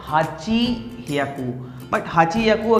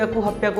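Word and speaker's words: はっぴゃく: पियाकू, हमारा अगला अपवाद है 800. 800-के हमारा आम तौर पर बोलना यह 8*100 होना चाहिए था। हाची एक याकू है. लेकिन छींक आना। असल में होता क्या है? नहीं। यह गलत है। हम इसे यही कहते हैं। हप्पियाकु.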